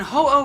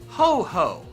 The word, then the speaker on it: Ho-Oh: called Groundon or Groudon, and Ho-Oh being called Ho-Ho. Because apparently a lot of you think that this fire-flying phoenix is actually Santa Claus.